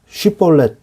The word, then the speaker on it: 쉿볼렛: 이 발음상 이렇게 쉬 발음, sh 발음을 못했던 것 같습니다. 그래서 히브리어에도 쉬 발음이 있고 시 발음이 있거든요. 점에 따라서 달라지는데 모음의 이 점에 따라서 달라지기 때문에 쉿볼렛이라고 해봤는데 이것을 못하면 에브라임 사람인 것으로 알고 이 사람을 죽인 거예요.